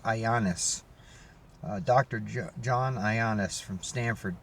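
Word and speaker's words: Ioannidis: It's spelt like IOANNIAIS or something, but he pronounced it Ioannis.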